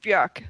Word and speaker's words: Björk: well, I can tell that the Björk is actually pronounced Björk, so you have to do it again now.